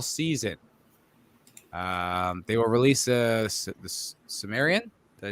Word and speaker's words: Cimmerian: They will release the Cimmerian.